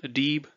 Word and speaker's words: Dieb: Then the combination I, E, think of it as pronouncing it as E and the word free. So Dieb, viel, sieben.